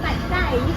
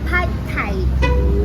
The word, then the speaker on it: Pad Thai: It's not pronounced Pad Thai. Oh. It's pronounced Pad Thai.